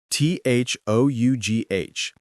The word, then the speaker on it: though: T h o u g h.